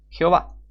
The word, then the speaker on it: Jehová: Esta ha sido la pronunciación aceptada de Yod-Heh-Vav-Heh durante al menos los últimos 400 años en el mundo occidental. Las escrituras, las traducciones, los comentarios, los libros de oración, las obras teológicas, los himnos y los cristianos en general han utilizado esta pronunciación estandarizada, Jehová.